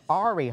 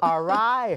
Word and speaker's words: Arī: This is going to take a while for me to pronounce her first name because I keep pronouncing it's Arai. Nope. Yeah, nope. It's Arai.